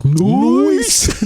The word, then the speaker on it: Noyce: After earning his doctorate in physics from MIT, Robert Noyce sounds like Noyce. It is really spelled like that, N-O-Y-C-E.